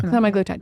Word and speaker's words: semaglutide: semi glutide is that how you say it semi glutide yeah semi glutide it's like the one of the brand names